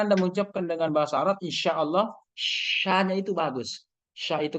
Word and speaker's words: insya Allah: Yang penting ini jangan bilang inso Allah atau insya Allah, insya Allah, jangan begitu, ya kan?